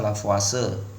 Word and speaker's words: Lavoisier: mag namanya Perancis ya ejaan spellingnya kalau tulisan lavoisier nih dibaca lavase gitu ya hukum lavoisier